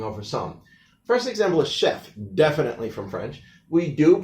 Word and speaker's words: chef: First example is chef, definitely from French. We do pronounce the F at the end. That's one of the ones that's here. Also, the CH in French is often pronounced like an SH.